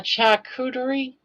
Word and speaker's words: charcuterie: Ah, a charcuterie?